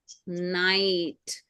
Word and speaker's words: night: we'll do it yes I I sound is by IG H together they make the sound of I or you can say I takes its name and GH is silent and then T night so n i and T night three sounds okay all right so